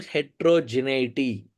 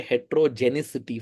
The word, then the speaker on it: heterogeneity: or there is considerable heterogeneity. Okay, that's the correct way to spell it and pronounce it. Sometimes many people say hetrogenicity for some reason. There is no C there.